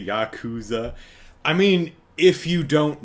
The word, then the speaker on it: Yakuza: Uh, Chicago says they're probably only familiar with Jacuzzi, so they're calling it Jacuzza. Jacuzza. Hey, let's let's throw on some swim shorts and go relax in the jacuzza. Um, lyrically, see, I used to say Yakuza.